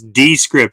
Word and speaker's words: Descript: right I I was calling it wrong it's descript it's spelled D is in Delta e is in